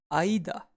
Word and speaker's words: 間: get space or interval the reading for space or interval is Aida and we can remember it with a philosophical question actually what's the big idea behind space who sate philosophical questions